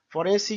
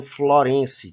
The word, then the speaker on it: forense: É muito comum as pessoas se confundirem e pronunciarem Florense, que vem de Florença, quando na realidade o correto é forense, que vem de foro, né, de tribunal.